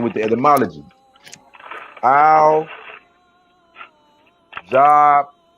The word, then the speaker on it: Jabbar: We say Geb because we're talking in English. That's pronounced Jabbar.